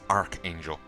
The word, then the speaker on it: Archangel: It's spelled Arch, but I always heard it as Archangel.